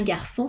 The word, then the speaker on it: garçon: o u un CCDI se prononce S comme la lettre S sa so su exemple un garçon français sans la SDI